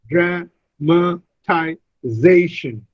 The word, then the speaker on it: dramatization: And then when I add this suffix tion, it becomes dramatization, dramatization. The stress is on the fourth syllable.